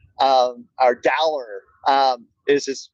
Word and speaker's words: Dowler: and it was Taco Dollar, or Dowler. Is just how you pronounce his last name, but in the stadium last week it was Taco Dollar or Dollar Taco if you put his last name first, which I'm all for.